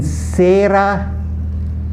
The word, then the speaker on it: cera: Okay, so CE is pronounced se, as in sera. It's pronounced like S-A-Y, se-a-re-ra, sera.